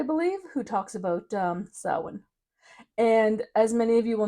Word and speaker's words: Samhain: way saan is pronounced it's spelled Sam Hayne for all of us you know Canadians and Americans phonetically that's what it looks like and I will forever call it Sam Hayne in my brain but